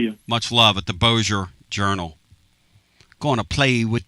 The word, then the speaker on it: Bossier: Shreveport Bossier Journal, but you gave it a shot because most people would think it's Bossier. It's Bossier. Thank you, my friend. You're the man. Take care. We'll see you. Much love at the Bossier Journal.